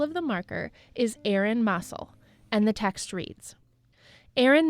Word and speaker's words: Mossell: have told us that in Lockport it's actually pronounced as Mossell, while the family pronounces it Mossell.